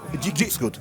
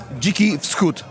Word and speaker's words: Dziki Wschód: I don't actually know how the name is pronounced. Dziki Wschód, Wild East. Dziki Wschód. Dziki? Dziki Wschód. Dziki Wschód, so it's a Wild East.